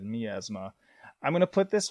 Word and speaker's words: Miasma: But let's move along to 2005 with Miasma, or I've heard some people pronounce it Miasma. I'm pretty sure the proper pronunciation is Miasma.